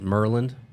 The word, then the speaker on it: Maryland: Jensen says, growing up in Maryland, we used to pronounce it Merlin.